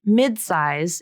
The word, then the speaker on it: midsize: The word midsize is a two-syllable word, and the first syllable ends in a D consonant. The next syllable begins with an S consonant. This is a type of consonant-to-consonant linking, and in this word, she uses an unreleased D consonant to link the two syllables together. She doesn't say mid-size.